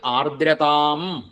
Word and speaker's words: ആർദ്രതാം: രസമന്ത തേന ഭക്തിരസമന്ത അടുത്തത് ആർദ്രതാം ആർ ദ്ര ദ ആർദ്ര ദകാരം മൃദുവാണ് ആർദ്ര ശക്തി വേണ്ട ആർദ്ര എന്നാ വരുത് ആർദ്ര അത്രയ ആവാൻ പാടുള്ളൂ ആർദ്ര താം ആർദ്രത അന്ത